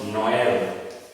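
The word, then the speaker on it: Noël: So with such an accent, you will pronounce E while it is elongated. For example, when you are talking about Noel, Noel, Noel, Noel, which means Christmas, Noel.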